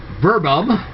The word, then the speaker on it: verbum: Now the thing is that if you ask some Latin teachers, they'll call it verbum, because they pronounce all the V's as W's. But whichever way you want to go with this, there you go.